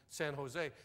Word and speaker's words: San Jose: I said, I'm going to El Cajon and San Jose. She said, out here we pronounce that J like an H. It's El Cajon and San Jose.